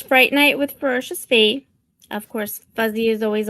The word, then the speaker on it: Ferocious Fi: And then his lovely wife, how do you pronounce it? Say it. Ferocious Fee.